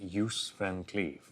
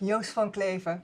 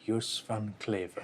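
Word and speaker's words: Joos van Cleve: I've been calling him Yuse Van Cleave in a very English way. How should I pronounce it? Yusfan Claver. Yanclaver.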